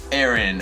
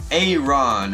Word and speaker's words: Aron: a level 35 boosted Aaron all right and I realized I've been saying it wrong and it is a run all right you guys